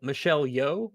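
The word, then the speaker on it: Michelle Yeoh: long then plus reshoots this is what michelle michelle yo is that how you pronounce it yes uh she said daniels i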